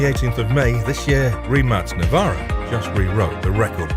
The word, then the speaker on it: Rimac: or England, but Croatia, and is pronounced Rimac.